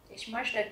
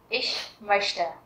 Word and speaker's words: möchte: Các bạn chú ý cách đọc của động từ này nhé, bởi vì các bạn có nhìn thấy chữ CH không? Nhiều bạn đọc là möchten hoặc là möchten thì đều là chưa đúng. Các bạn nhớ là chữ CH ở đây đứng sau âm ôm laut thì mình sẽ đọc là âm như là chữ ish.